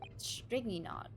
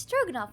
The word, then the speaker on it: Stroganoff: For that, Stringy Knot crewman comes back. It's Stroganoff, not Stringy Knot. Say it right, Naruhodo.